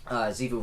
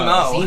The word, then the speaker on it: Zemo: They had the villain Zivu running around doing his whole thing, and that's Did you not say his name. Zivu? I did. What is it? What's his name? Zemo. Zemo. I said Zivu.